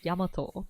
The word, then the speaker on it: 大和: And then 大和, like the pronunciation is different. It's Yamato, by the way.